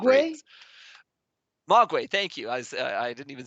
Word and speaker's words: Mogwai: It was like kind of like a progressive Mogwai? breaks. Mogwai, thank you.